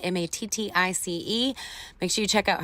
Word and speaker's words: Mattice: That's how you pronounce it. Mattice.